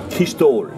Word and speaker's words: Christol: Ah, Christophe est Ibronek Velaret, Christol. Christol. Ça, c'est la façon de prononcer en breton le prénom Christophe.